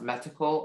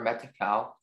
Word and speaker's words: metical: Okay, so the word can be pronounced metical or metical.